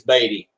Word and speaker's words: Beaty: Everyone says Beaty because that's how you spell it, you know, like BEA, yep. Like beat. Yeah, I'll tell. All right, gentlemen. Dave, say his name is Beaty. It's not Beaty, it's Beaty.